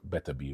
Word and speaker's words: Beterbiev: Artur Beterbiev.